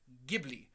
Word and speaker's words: Ghibli: I pointed out no if there's an H after the G it's a hard G it's pronounced Ghibli and so yes I have been forced to eat crow and realize I've been pronouncing that word wrong my entire life that being said Ghibli